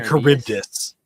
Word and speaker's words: Charybdis: The Charyb- The Charybdis. Charybdis. It's a a Greek mythological monster. Okay, let's pull up an image of what that looks like. That's what I'm Charybdis.